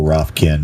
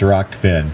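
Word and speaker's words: Rokfin: come over there and I go roughkin and it's like no it's not it's it's rock Finn so I'll learn I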